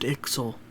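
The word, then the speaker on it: Ixal: dead bird it is it is pronounced ixel i knew it but i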